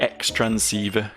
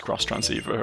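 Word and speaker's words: Xtransceiver: keep chatting keep chatting give me the the X transceiver cross transceiver times transceiver multiplication transceiver oh she specifically says it's pronounced cross transceiver okay fair enough then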